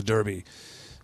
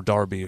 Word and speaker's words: Derby: Serious Osaka would be coolest because that would be the Osaka Derby, or Darby, however you want to pronounce it.